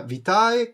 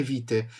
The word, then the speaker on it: vitae: Alessandro si può pronunciare sia vitae che vite di se usi pronuncia classica o ecclesiastica perfetto Alessandro [ __